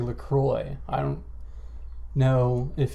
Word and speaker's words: LaCroix: it in the US this is said as lroy lroy from French in France it is said as laqua laqua meaning the cross but being an American